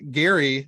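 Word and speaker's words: Geri: is approached by uh Gary, the the dire wolf of Odin. Is that not how it's pronounced? I know, I love I love that his name just phonetically is like Gary.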